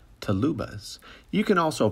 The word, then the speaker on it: TLUbas: u2 bus or as i like to say to lubas you can also pronounce it tl yubas but really it's only the woodwind people that